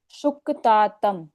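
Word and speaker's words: शुकतातम्: ध्व निधि निधि निधि यहां पर शुक क का उच्चारण पूर्ण सुकतातम आप बोलो शुकतातम सुकतातम शुक सुतातम नहीं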